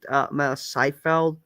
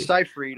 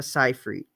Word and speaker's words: Seyfried: because she did had a nice scene with Seifeld. What's her name? Fuck. With Seinfeld? Her and Fuck, Jerry fuck, fuck. Seinfeld? No, no, Amanda Seifeld. Amanda Seinfeld. I can't fucking pronounce her fucking name. I'm sorry. Seyfried.